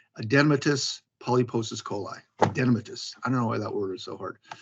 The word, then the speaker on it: adenomatous: took me 5 years to learn how to pronounce it correctly, Adenomatous polyposis coli. Adenomatous.